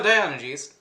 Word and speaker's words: Diogenes: Wait, no. No, Diogenes. I said it right the first time.